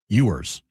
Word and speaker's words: Ewers: And it it was announced today the Dolphins are benching Tua for Quinn Ewers. Or Quinn Ewers, I don't even know how to say his name. You were right the first time.